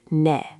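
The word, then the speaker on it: 네: The word for yes is ne, spelled with e. Try it. Ne.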